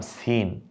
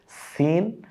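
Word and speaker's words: سين: এটার নাম সিন। পরেরটার নাম শিন। দেখুন উচ্চারণটা একটু, সিন শিন।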